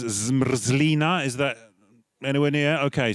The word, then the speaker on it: zmrzlina: The pronunciation dictionary says zmrzlina. Is that anywhere near? Okay, so everyone, zmrzlina.